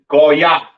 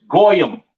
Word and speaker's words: goy: Pronounced in the Hebrew, Goya, Goya. The Yiddish man says Goyim or Goyim or whatever the hell he says. That's not the proper pronunciation for the word Gentile in Hebrew. It is Goya, all right?